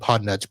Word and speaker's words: Podnutz: Podnutz Pro, and then tell us a little bit about your podcast. All right. So Podnutz Pro is spelled Podnutz. So almost like it sounds, except with a Z.